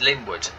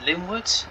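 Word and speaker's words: Lingwood: great yarmouth fire linford lynnwood excuse me it's linwood so services to great yarmouth after here we'll call it linwood and echo and i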